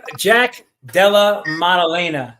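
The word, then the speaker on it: Jack Della Maddalena: Well he he did Jack Dela Modelena that's how you pronounce it.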